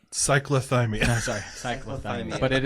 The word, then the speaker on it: cyclothymic: I always say syphilis, and he said that's not it. Cyclothymic.